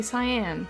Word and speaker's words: cyan: You say cyan, with the emphasis in the wrong place. Cyan. Cyan? I thought it was cyan.